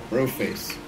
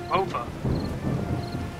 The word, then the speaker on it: Bofa: Bro face, come on up. Broke this. Pardon me, that's actually not the correct pronunciation. Sure, sure. It's Bofa.